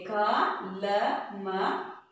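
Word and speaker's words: कलम: As usual, the last letter, same like a two letter words, the last letter without any matra, any symbols na. So just ma im, like that, like this we have to pronounce this letter. Clear? Okay. Ka la ma kalam.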